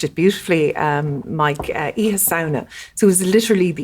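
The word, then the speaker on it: Oíche Shamhna: And Halloween originated, you pronounced it beautifully, Mike, Iha Sauna.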